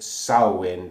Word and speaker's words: Samhain: crafts the name is spelled Samhain but it's pronounced south wind as a reference to a Celtic Festival which